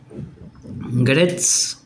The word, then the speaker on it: Gretsch: Gretsch Duo-Jet. Gretsch Duo-Jet 1956. Deletreo cómo se escribe porque por ahí la pronunciación no se dan cuenta cómo se escribe.